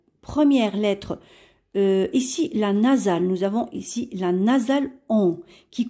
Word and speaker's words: nous avons: Et nous avons en français une règle qui dit que lorsque le S se trouve entre deux voyelles, on le prononce ZE.